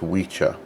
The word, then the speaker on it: wicca: c is pronounced as a cho so it's witcher um and although it is spelled the same w i c a um